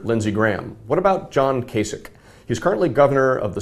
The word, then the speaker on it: Kasich: he says uh what kasich rhymes with basic and and i think